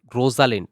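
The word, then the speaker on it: Rosalind: পারে তারপর হচ্ছে জিপিটি রোজালিন্ড মোস্ট প্রবাবলি হ্যাঁ এটার উচ্চারণটা রোজাল্যান্ড হ্যাঁ জিপিটি রোজাল্যান্ড এটা হচ্ছে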